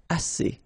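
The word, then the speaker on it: assez: as means enough okay remember two vowels here a and then uh And then double s so it's really strong the s as okay as so same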